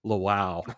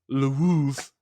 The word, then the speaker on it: Lwów: It's spelled Lwow. Which is not pronounced Lwow, which it should be. It's Lwów.